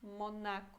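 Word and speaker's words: Monako: Depois temos Monaco, em português Mônaco, mas em polonês a gente fala Monaco, ok? Então o acento é diferente. Monaco e Mônaco.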